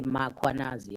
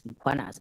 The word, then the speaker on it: Mkwanazi: them to pronounce Mkwanazi, they will put an A after M. They will say Mkwanazi, and there's no A, it's Mkwanazi, MKH.